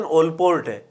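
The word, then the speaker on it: Allport: वैसे इसका सही प्रोनाउंसिएशन ओलपोर्ट है ना।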